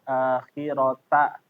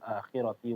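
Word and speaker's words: الآخرة: Kemudian ya tadi wa innalana lal akhirata. Tadi ti ya dibacanya. Wa innalana lal akhirati wal ula.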